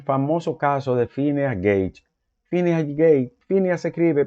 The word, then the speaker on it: Phineas: ciencia es el famoso caso de Phineas gage Fineas gage Fineas escribe p h i n a